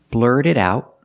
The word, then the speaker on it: blurt it out: look at the pronunciation blurred it out we see the T and blurt is a fast D and the T and